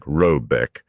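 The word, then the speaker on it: Råbäck: The mana house or herd in question is to be called Robeck, pronounced something like Robbeck, though that is not its name.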